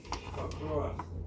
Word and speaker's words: across: Is that how you say it, honey? Across. Across. No T. Two S's. Across.